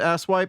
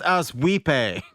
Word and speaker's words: Asswipe: Asswipe Nelson. Is there a Mr. and Mr. Asswipe Nelson here? And he's like, it's pronounced Aswipe. It's Swedish.